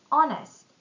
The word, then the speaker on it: honest: Silent H. Our honest.